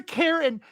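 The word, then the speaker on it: cairn: of white it is if you mispronounce it it's a karen um it's a c-a-i-r-n so um emery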